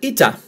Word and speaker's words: eta: And moving on is the letter Ita, and as in Nikita, the album from Elton John and the single, Nikita, Ita, Ita.